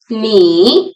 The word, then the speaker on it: 你: Ni is pronounced with third tone. low and then rising.